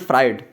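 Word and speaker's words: Freud: पहले बात करते हैं सिगमंड फ्राइड इसके आप फ्लूइड भी प्रोनाउंस कर सकते हैं फ्राइड भी बोल सकते हैं जैसा आपको सही लगे देखिए ज्ञान होना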